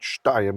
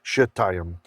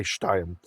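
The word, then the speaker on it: שְׁתַּיִם: It's not shtayim, it's shetayim. Israelis would say shtayim.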